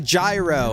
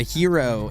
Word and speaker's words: gyro: Uh, oh, a gyro or a or a Hero is as is probably more uh properly pronounced.